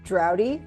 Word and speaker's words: Draude: call signs from uh my last name is pronounced dry and so my call